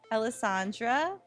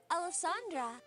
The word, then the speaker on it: Alesandra: go uto oh and she just really pronounces it like how it's spelled Alesandra Alesandra also just a shout out